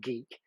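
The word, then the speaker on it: GEIC: quite rightly say aw it's pronounced geek yeah this is called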